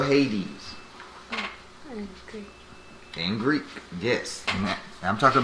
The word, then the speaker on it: Hades: does that word say you forget that's two syllables in that word that word says hadees that's how you spell hades in greek yes i'm talking about that word h-a-d-e-s hades now read that speak up hey hadees